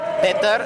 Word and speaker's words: Petar: Okay, here's someone we talked to before, Petar. Yes, you can call me Peter or Petar, as is the Bulgarian pronunciation.